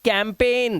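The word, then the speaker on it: campaign: Resign, इसे पढ़ते हैं साइन, इसे पढ़ते हैं कैंपेन। जी साइलेंट फॉरेन।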